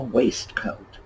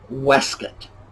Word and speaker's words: waistcoat: what do you think no it is not a waistcoat let me throw in an alternate spelling for this yes wesket that alternate spelling is exactly how it is pronounced but a waistcoat which